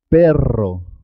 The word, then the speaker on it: perro: ser doble por ejemplo cuando se escribe doble 2 eres siempre suena doble carro carro es importante marcar la r perro perro zorro torró puedes pronunciar